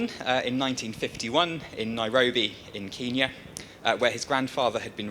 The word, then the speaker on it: Kenya: No, lo and behold, the official pronunciation of the name of that particular country was in fact changed at independence in 1963.